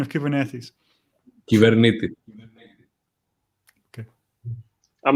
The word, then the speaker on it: Kubernetes: What's the correct pronunciation of Kubernetes? Kubernetes.